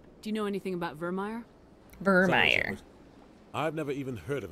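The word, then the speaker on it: Vermire: on the news we're going to vermeier not Vermeer sorry for all the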